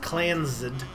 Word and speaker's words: Clans: The Clans, pronounced Clansed, Trust is a highly